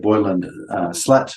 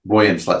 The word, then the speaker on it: Boyan Slat: I've mentioned a young man by the name of Boylan Slat before, probably just Boyan Slat, sorry. I've probably absolutely butchered the pronunciation of his name.